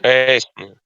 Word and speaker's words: hastening: I mixed hatch, but hastening. Mm, hurrying, Hastening. hastening. hastening. It's like hurrying. Hurrying. Yeah. Bring, The T is not pronounced hastening, hastening, hastening, hastening, Hastening.